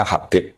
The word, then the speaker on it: Habib: Itu di harakatnya kitab itu ada yang nulis khubb. Tapi yang benar Oh, nggih. Yang benar itu bacanya Habib.